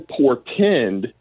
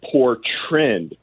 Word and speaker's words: portend: Now he started becoming very agitated, and he, instead of saying portend, he started saying portrend. Portrend. He got the word wrong.